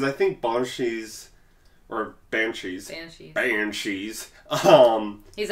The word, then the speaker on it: banshee: think bong cheese or banshees I am cheese home he's Irish so he gets to pronunciation ah well the actual pronunciation would be bong Shi right that's why but